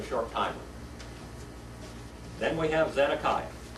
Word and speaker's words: Zedekiah: Then we have Zedekiah. Zedekiah, number 20.